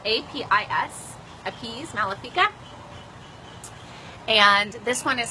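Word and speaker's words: Apis: So it's called A-P-I, well, it's spelled A-P-I-S, Appease Malefica.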